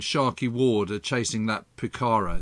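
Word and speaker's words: Pucará: Ward are chasing that Pucara. Is that how you pronounce it, a Pucara? Yeah, that's right, Pucara.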